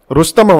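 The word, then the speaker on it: Rustom: Okay, and again ரஸ்தம் அப்படின்னு சொல்லிட்டு ஒன்று இருக்கு, ஒரு ருஸ்தம் அப்படின்னு கூட ப்ரொனவுன்ஸ் பண்ணுவாங்க இதை.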